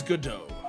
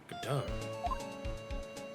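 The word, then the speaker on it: Godot: Would I be correct in assuming that the T is silent?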